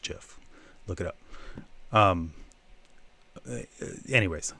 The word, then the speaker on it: GIF: And I do say GIF because the creator of GIF says it's pronounced GIF.